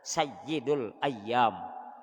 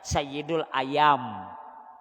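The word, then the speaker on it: سيد الأيام: hari Jumat nah tu Sayyidul ayyam kalau ynya kada bertasdid kada bersabdu membacanya sayidul ayam ayam kalau bertasdid ianya ayam ayam Sayyidul ayyam penghulu atau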